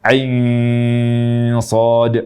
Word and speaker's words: كهيعص: ke huruf Shad jadi panjangkan ainnya Ain Shad panjangkan ainnya dulu ya jangan baca Ain Shad ghunahnya yang lama tapi